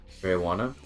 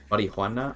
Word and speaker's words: marijuana: But if you say it more like an English person, where like marijuana, like the U is kind of being pronounced, but not the J, I guess.